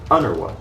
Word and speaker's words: UNRWA: just spelling it out the name of this agency in arabic is made pronounceable by inserting vowels as though it were an arabic word transforming it into under what what's funny is that